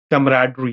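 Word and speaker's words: camaraderie: एसबीआई में हां कैसे बोले इस वर्ड को कैमराडरी मेरे साथ प्रोनाउंस करें बच्चे कैमराडरी ठीक है तो कैमराडरी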